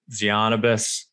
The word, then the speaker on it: Tzianabos: about all this and more is dr zionibus welcome to the show thank you man great intro and you nailed the pronunciation of my last name perfectly all right